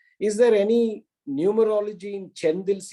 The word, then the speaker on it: Chendil: Is there any numerology in Chendil, Chendil? No, I asked him. He said, this is the way this has to be pronounced.